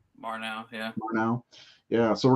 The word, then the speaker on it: Murnau: Murnau, yeah.